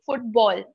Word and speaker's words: football: places I noticed that the O was being mispronounced, right? So football, need to open football. The mouth a little, because that is a long vowel here.